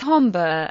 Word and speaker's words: Honbu: Sometimes Honbu is written as Homba, the way it is pronounced, but according to the